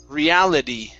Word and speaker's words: reality: reality reality reality okay now the t at the end pronounce that like a d reality reality good one more